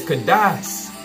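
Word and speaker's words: Kadosh: Yeah, it's Kadash.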